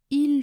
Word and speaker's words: il: Ensuite, il faisait froid se prononce il faisait froid. Il faisait froid. Il se prononce i, je ne prononce pas le L quand je parle vite, et faisait se prononce